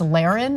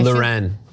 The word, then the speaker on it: Loren: It's Laren, and I Loren. No. It's Rafe Loren. Don't do that to Sophia, okay?